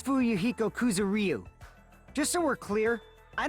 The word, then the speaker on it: Fuyuhiko Kuzuryu: Will you please say your name so I know how to pronounce it? Name's Fuyuhiko Kuzuryu.